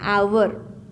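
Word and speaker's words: hour: ठीक अछि example आवर कोन अछि example आवर एच ओ यू आर एठारे आपण जानिछंती कि एच साइलेंट रहि जिबो अछि हावर हुए नाही आवर हुए अर्थात आमे आको किपरि भाबरे लिखिबा आवर।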